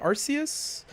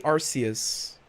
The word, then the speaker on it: Arceus: yeah argues okay i i say arceus i i say rcs and this was actually